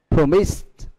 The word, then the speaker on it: promised: Bởi vì cái động từ promise được kết thúc là S. Còn những như là injure, threatened, agree, E, đó là ngoài âm, những âm được phát âm là âm T.